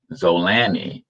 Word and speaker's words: Zolani: enunciation of your name let me see how to enunciate that zola knee zola knee zolani maybe uh is a better way to pronounce it yes yes you are